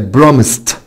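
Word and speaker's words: promised: طيب برامس برامس برامس حبايبي معناها يوعد، بقت برامست برامست برامست. يبقى الاي مش هتنطق والدي هتنطق تي.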